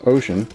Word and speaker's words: Wouxun: It's a Wouxun. I think it's actually pronounced Ocean.